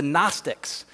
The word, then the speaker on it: Gnostic: And by the way, even 2,000 years ago, there were a group of people known as the Gnostics, right? It's spelled G-N-O, Gnostic, like agnostic, people that would say, I don't know, right?